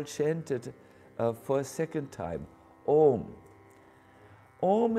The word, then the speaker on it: Om: for a second time Om is phonetically is Clank here uh spelled as a u and M the a symbolizes the